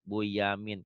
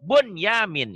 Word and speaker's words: Bunyamin: Buyamin. Kenapa kok bacanya Buyamin? Kan itu nun mati ketemu ya idgham. Iya, idgham. Tapi tidak dibaca idgham jadi idhar, idhar mutlak. Jadi Bunyamin itu kan sama.